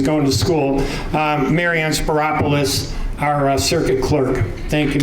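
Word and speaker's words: Spyropoulos: get there together Marana sparis rhymes with Metropolis I'm the new Clerk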